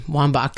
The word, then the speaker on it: Wambach: Wambach. Yeah, Wambach.